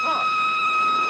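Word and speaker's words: Froy: My name's Troy. You said Troy? No, oh, not even Troy. I'm sorry, I can't hear. It rhymes with joy.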